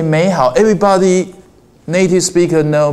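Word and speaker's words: 美好: The first third tone will change as a second tone will change 美好 This is a natural way of native speaker speaking.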